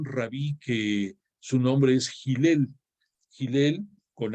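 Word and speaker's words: Hillel: de un gran rabí que su nombre es gel gel con h así se pronuncia gel pero se escribe con h y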